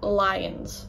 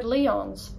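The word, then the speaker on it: Lyons: And the anglicised version is lions, or as I famously mispronounced it before, Leons.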